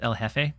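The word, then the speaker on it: jefe: Pomo or from Pomo L Jeff is Spanish for the boss oh oh my goodness so it's l Hefe I've been mispronouncing it that's why that's why people were giggling about it I didn't know I didn't know why it was funny um that I was saying L Jeff it it makes sense now though un unfortunate said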